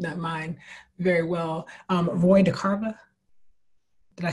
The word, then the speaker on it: Roy DeCarava: Roy DeCarva, did I say it right? Sweet Fly Paper. Roy DeCarva. DeCarva, thank you.